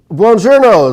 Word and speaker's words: Buongiorno: Buongiorno.